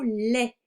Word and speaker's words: lait: Alors, le mot lait, j'ai dit qu'il y avait une lettre muette, donc c'est le T, d'accord? Pour s'en souvenir, c'est qu'on dit qu'on a des produits laitiers, on entend le T, et le son est de lait, c'est A et I.